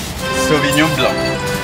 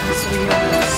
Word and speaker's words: Sauvignon Blanc: Entonces yo a los franceses, como tú que ya eres francés, ¿cómo se pronuncia la variedad de uva? Sauvignon Blanc. Sauvignon Blanc.